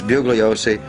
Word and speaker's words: Bugliosi: Se pronuncia "Buliosi", pero si lo dices así solo él sabrá de quién estás hablando. Para los demás es Bugliosi.